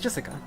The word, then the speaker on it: Jessica: You see, it's pronounced Jessica.